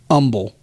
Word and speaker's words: Humble: it's humble but pronounced Umble Umble yep Umble so take away the H you know like we do with herbs do the same thing